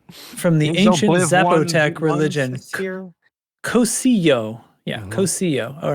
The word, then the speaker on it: Cocijo: I think it's No, it's Cocijo. Cocijo. The J is silent.